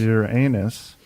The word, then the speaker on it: Uranus: question five does uranus which is the proper pronunciation is your anus does uranus have an